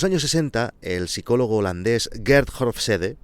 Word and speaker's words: Geert Hofstede: En los años 60, el psicólogo holandés Gerfede, que en este episodio de No es asunto vuestro vamos a escribir como Gerhof Sede y vamos a pronunciar como Gerhof Sede, trabajaba para el departamento de recursos humanos de IBM.